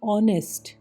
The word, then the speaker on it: honest: HONEST, ऑनेस्ट, नो H sound, ईमानदार।